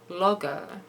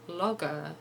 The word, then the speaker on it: logo: another funny thing is how he pronounces logo he says logo I assumed that he was pronouncing it incorrectly on purpose in keeping with his character of being kind of stupid but I just looked it up and I found that logo is also correct so now I'm just